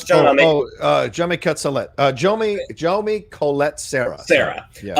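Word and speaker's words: Jaume Collet-Serra: Now, the director, is it pronounced Hame? Is that how you pronounce it, John? Jomi Colette.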